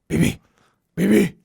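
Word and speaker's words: Beebe: When it comes to cinematography, I must raise my glass and toast to Dion Bebe. BB? B-E-E-B-E. BB.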